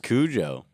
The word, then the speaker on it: Cujo: Probably because it's pronounced Kujo.